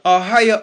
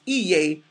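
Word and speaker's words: אהיה: It's right in your face where it says Ahia, Ashar, Ahia, which the Jewish people mispronounce Iye, Ashar, Iye.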